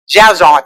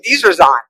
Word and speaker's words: Dzierzon: say it wrong) Johann Dzierzon. Thank you! I need your accent, I’ve been working on this one. I’m dyslexic, I’m calling him Dzie-zer-zon. But that wasn’t working.